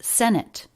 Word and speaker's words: senate: like this senate do you hear the difference senate but instead it's senate that might sound to